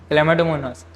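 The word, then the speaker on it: Chlamydomonas: तो आप ये वर्ड देखिए, आपको लग रहा होंगे कि ये क्या है, ये क्लैमिडोमोनास है, इसको प्रोनाउंस करते हैं हम क्लैमिडोमोनास।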